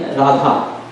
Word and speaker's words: Radha: So Ra and Radharani name, the Radha name, there is two syllables, Ra and Dha.